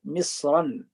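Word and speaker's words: مصرًا: Misr is ghair munsarif, and misran, it becomes munsarif, means there is noon when you pronounce it, misran.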